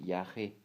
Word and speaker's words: yagé: doing aasa ceremonies now he doesn't call it AA he calls it Yak which is spelled y a g e and um so